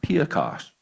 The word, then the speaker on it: Piekarz: My family name, Piekarz, is Polish. Our pronunciation is anglicized now, but it's pronounced Piekasz in Polish, and it translates as baker.